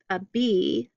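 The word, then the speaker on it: bi: and pink bodies loop through what's called a bee, and it's spelled B-I, and this is a disc with a hole through, thought to represent the sky underneath Lady Da.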